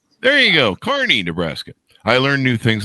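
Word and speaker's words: Kearney: was born he was born and raised in Kierney, Nebraska. Did I get that right, John? Did I pronounce that right? It's Carney, but it sounds weird. Yeah, there you go. Carney, Nebraska.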